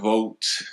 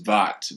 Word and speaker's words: Votte: It's not Vote. A lot of people mispronounce the name, so this is the correct way. It's Votte, VOTTE Hall.